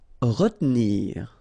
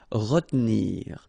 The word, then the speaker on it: retenir: Retenir, okay, so normally in that situation, well, you've got to pronounce this R, okay, but then you don't insist too much on this E here, so it goes like retenir, retenir.